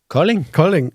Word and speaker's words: Kolding: So it was Kolding. Kolding. Yes. Wow, so cute. Thank you for saving my pronunciation.